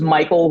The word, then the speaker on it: Michael: may free this is Michael who which is spelled m i h e a l not AEL Mitten he has a